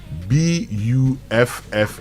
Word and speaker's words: buffet: Buffet. Buffet. Is it buffet or buffet? Buffet is British pronunciation.